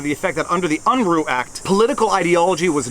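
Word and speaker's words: Unruh: violations, and at the state level arguing UNRU, U-N-R-U-H, apparently I mispronounced it in my last video, UNRU violations.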